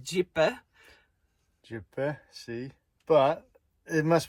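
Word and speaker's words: Gjipe: beach we'd been looking forward to the most, Jippy Beach. So, to our Albanian friends, apologies. We know it's actually pronounced Jipper.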